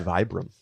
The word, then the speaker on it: Vibram: It's Vibram.